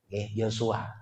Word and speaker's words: Yosua: Dan pengganti dari Nabi Musa alaihissalam, kalau menurut versi ahli tafsir itu disebut dengan Yusha bin Nun. Tetapi kalau versinya perjanjian lama hanya sedikit beda pelafalan, yaitu Yosua bin Nun. Yosua.